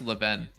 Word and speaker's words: Levain: Oh, it's pronounced Leven. Really? Leven?